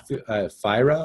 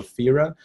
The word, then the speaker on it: Fira: I'll just type it here because I know sometimes my French Canadian pronunciation makes it sound weird, but so it's called like Fira or Fira. F-I-R-A.